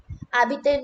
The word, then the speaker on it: habiter: Habiter means to live. So when we speak habiter, we don't use the H here.